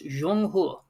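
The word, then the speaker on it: 中国: It's not China. It's Jeong Hur.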